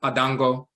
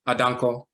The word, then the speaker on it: Adanko: the same thing with adango the name is actually adanco and when he wrote